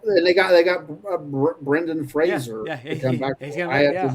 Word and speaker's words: Brendan: He's like, he's like, "It's Brendan, not Brandon."